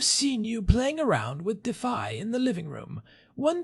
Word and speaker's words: Dify: The project that I think is really winning this space right now and one I know Daniel would appreciate is Defy. That is spelled D I FY.